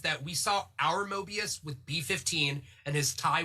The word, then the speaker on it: Mobius: get his name wrong morbius and then the mobius they're mobius thank you mobius i always get it wrong i like switch everything around morbius is the vampire that's that's why i